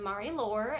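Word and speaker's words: Marie-Laure: One is named Mari Lore, and I believe that's how you say her name.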